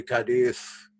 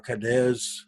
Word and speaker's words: Cadiz: right here through Gibraltar to Cadiz, or Cadiz, however you want to pronounce that. I think it's pronounced Cadiz. They come right around here,